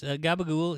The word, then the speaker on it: gabagool: Ooh, it's gabagool is the Sicilian pronunciation for the spicy deli ham capicola.